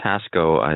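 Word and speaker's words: Haszko: The name is Haszho. It's misspelled on the list of speakers as ending in HO, but it ends in KO, so you've got it correct.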